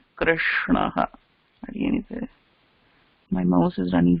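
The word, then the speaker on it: कृष्णः: The correct pronunciation for the word is Krishnaha.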